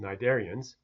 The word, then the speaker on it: cnidarians: start up with some cnidarians and some cnidarians if you are interested in corals you would know about this phylum of organs there's the pronounciation either look out myself you don't pronounce a C so you can see